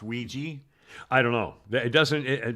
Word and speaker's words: Ouija: Yes, but why is it spelled the way it is if it's pronounced Ouija?